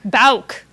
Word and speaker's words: Bouk: Our next speaker in this lineup is Bouk. Is that the right way to pronounce it? Bouk is right.